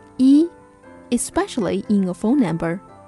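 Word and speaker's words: 一: 二零七九九零二 In real life context, you may hear some Chinese people pronounce the number 1 as yao instead of yi, especially in a phone number.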